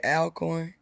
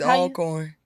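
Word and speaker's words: Alcorn: your ass if they heard you say Al corn it's all corn who says that we do that must be a southern thing huh it's called alorn no it's not that's cuz it's not spelled like that right it's not you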